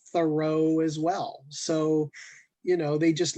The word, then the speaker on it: Thoreau: Yeah, so all of you, all 23 of you who are watching, just say Thoreau over and over and over.